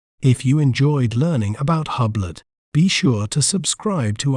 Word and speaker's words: Hublot: In British accent, we may pronounce it as Hublot, Hublot, Hub, Lot, Hublot.